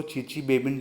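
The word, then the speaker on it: Chichibabin: इसको चीची बेबिन रिएक्शन भी बोलते हैं। तो जिसमें ये स्पेलिंग लिखी हुई है इसमें टी एस साइलेंट होते हैं। नाम क्या होता है इसके, चीची बेबिन रिएक्शन।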